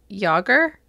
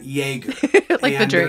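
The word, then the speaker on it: Jágr: nervous about this one yaromir Jager yes wait really yes uh well that is the way it is said everywhere now when he first came to the Penguins as a rookie in 1990 many people went with yaramir jaeger is a famous YouTube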